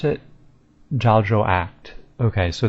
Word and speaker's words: Jagex: So I'd call it Jagex, and how do they pronounce it? Jagex. Okay, so that little ACHT is act rather than act, so Jagex.